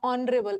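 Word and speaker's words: honorable: ऑनरेबल इसका H silent है। ओ से शुरू हो रहा है। ऑनरेबल ओ।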